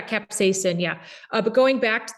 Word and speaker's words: capsaicin: one yeah and um capsaction that's how I pronounce the name I'm pronouncing it right the pepper yeah capsaicin yeah but going back